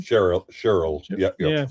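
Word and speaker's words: Schürrle: Uh and Andre Shur Shur. Is that how you pronounce his name? Cheryl. Cheryl.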